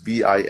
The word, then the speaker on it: Vinay: The thing is, it's an old Indian name, so it's Vinay, and it sounds like it's like Italian, like my cousin Vinny, right?